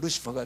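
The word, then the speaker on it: Lucifer: 라틴어로 발음을 하면 루치페릅니다. 그런데 그걸 영어로 그 스펠링 하나도 안 틀리고 그대로 해놔놓고 영어로 발음을 하면 루시퍼가 됩니다.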